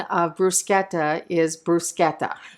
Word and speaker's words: bruschetta: who better be watching the correct pronunciation of bruschetta is bruschetta not bruschetta and if you want an annoy an Italian and you should just never do that say bruschetta but seriously busqueta is the correct pronunciation and I did look to see if